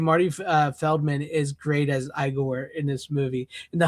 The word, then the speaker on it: Igor: So they told me your name was Igor. No, it's Igor.